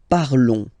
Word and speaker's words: parlons: Nous parlons, okay? Remember, final s is not pronounced, okay? And then this on together, they will give you the sound on, okay?